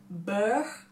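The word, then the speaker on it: beurre: pencil in the color bow it's be e u RR e it is French for butter and it is pronounced bo which i think is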